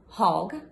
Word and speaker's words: Hogg: name is Hogg my last name is pronounced Hogg uh my husband says like a dirty old Pig um I always joke